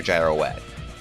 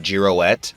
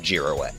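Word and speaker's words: Girouette: I think his name is actually pronounced Giroette because that's sort that's similar to how it's pronounced in French.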